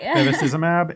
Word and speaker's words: bevacizumab: So it's the Association of Physician Peer Influence with Subsequent Physician Adoption and Use of Bevacizumab. That's right. Bevacizumab.